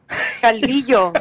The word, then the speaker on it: Calvillo: the Villo, that like I pronounce it, but Calvillo, Calvillo. Calvillo. It's Yeah, like it's yo, double like L, that. you That's loser. It is a double L.